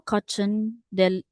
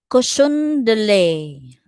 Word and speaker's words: cochon de lait: The little cochon del sorry, how do you say that? Cochon de lait.